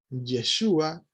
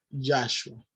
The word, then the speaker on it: Yeshua: Por lo tanto, vamos a ver que el nombre es Yeshua y no Yahshua.